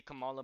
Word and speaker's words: Kamala: What I'm gonna be looking out for is to see Kamala moving away.